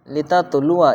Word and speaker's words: لتتلوا: جائے گا ثمودا، لتتلوا لکھا ہوا رہے گا لتتلوا، پڑھا جائے گا لتتلوا، یہ الف نہیں پڑھا جائے گا، کٹ کا نشان ہے اس کے اوپر۔ اسی طرح لن ندعو،